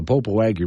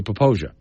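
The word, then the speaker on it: Popo Agie: like right so when someone looks at it and says that's the popo wagi River I don't make fun of them look at how it's spelled yeah but you're supposed to say pooia we have a lot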